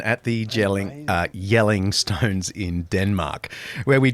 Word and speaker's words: Jelling: here in the very well-kept Hedges of uh jelling jelling it's yelling dad what do you mean it's jelling it's pronounced it's got a on it but that's